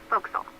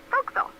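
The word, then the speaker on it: forecastle: ship but it's pronounced voxel why is that try pronouncing it like an english sailor with no formal education bow castle foxel over time it whittled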